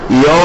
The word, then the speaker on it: your: ശരിക്കും ഹൗ ഈസ് ആണ് വരിക, യോ എന്നാണ്, യോർന്നൊന്നും അല്ല. അത് അത്ര താല്പര്യമുള്ളവർക്ക് വേണ്ടി മാത്രം പറയാനിട്ടോ. അല്ലാത്തല്ല ഹൗ ഈസ് യുവർ ബ്രദർ എന്നൊക്കെ പറഞ്ഞോളൂ, നോ പ്രോബ്ലം. ഹൗ ഈസ് യോ ബ്രദർ, യോ എന്നാണ് ഉച്ചാരണം.